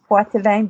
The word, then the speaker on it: Poitevin: It's Poitevin, but it's French, and everybody says Poitevin, and I answer to it.